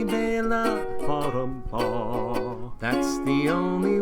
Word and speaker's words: Bela: The song is wild, I really like its style, but they say his first name wrong. It's Bela. Bottom paw. That is how you say Bela.